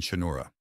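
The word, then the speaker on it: Cha'Noora: "Also, it's pronounced charat and chinura," All Lady says after a moment, and he gives her a look.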